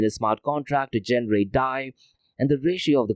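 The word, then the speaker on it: DAI: of US dollar and die which is spelled as D AI that is D for David a for Alpha and I for India is designed to maintain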